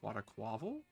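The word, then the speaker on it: Quaquaval: I think it's quite a quaval thing that's how you say his name.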